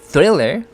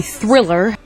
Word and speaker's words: Thriller: Michael Jackson's 1983 Thriller Michael Jackson's 1983 Thriller, Michael Jackson's 1983 하고 나서 약간 쉬었다가 숨을 머금고 나서 Thriller 하고 들어가는 거죠. TH 발음은 혀가 윗니하고 아랫니 사이로 나와야 됩니다.